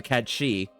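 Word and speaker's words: Cait Sith: I mean, I've talked about this before, because obviously, you know, Vel is a cat she, which is how you're actually supposed to pronounce it.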